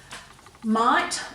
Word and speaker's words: might: spelt it correctly, because it's quite hard putting that GH in the middle of these words that we don't hear that sound for.